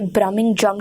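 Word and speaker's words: brummagem: ब्रम जम ब्रम जम यह जो शब्द है इसे ब्रम जम की तरह प्रोनाउंस किया जाता है 17 सेंचुरी में 177th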